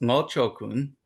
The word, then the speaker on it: Ngo Cho Kun: It's pronounced Ngo Cho Kun, and it's spelled Ngo, which so when they say that's Hokkien, Amoy dialect, but of course in Cantonese it's for five, right?